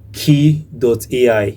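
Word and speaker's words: Kie.ai: So you need to search for a particular website called key.ai. Key.ai. So the key is spelled as K-I-E.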